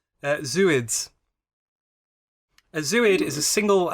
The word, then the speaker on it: zooid: Also, from my scientific knowledge, I think it's pronounced zooid. Zooid. Oh, Yeah. I like this. Because like zooplankton, but it's the fact that you break it up so you kind of have a pause in the middle and then Got you.